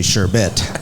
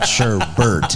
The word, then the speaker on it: Sherbet: And everybody says your name wrong all the time because it's actually Sherbet, not Sherbbert.